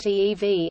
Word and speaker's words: Evi: In January 2012, True Knowledge launched a major new product, EV, pronounced EEV, an artificial intelligence program which can be communicated with using natural language via an app on iPhone and Android.